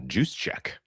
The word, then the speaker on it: Juszczyk: Kyle Kyle Juszczyk Juszczyk, okay. All right. Yeah. It's the easiest one of them all. Juice check.